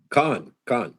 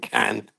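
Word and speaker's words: Cannes: So now, is it pronounced Can or Con? Con. Oh, it is Con. That's the French. Probably. I'm partially French. You guys have to call it Can.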